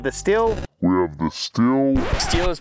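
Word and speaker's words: Stihl: world we have the steel we have the steel steel is pronounced steel 462 MSC and we have the silky Katana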